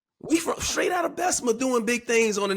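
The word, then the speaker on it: Bessemer: say it right Unice BMA Alabama how we that's how we pronounce it down there it's not how it's spelled but it's how it sounds when you're from there it's belma we don't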